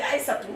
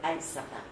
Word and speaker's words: Aïssata: Kennedy, les gens écrivaient Aïssatou naturellement parce que c'est ça qu'ils savent et qu'ils entendent prononcer. Et mon père me dit non, tu es Aïssata. Tu n'es pas Aïssatou.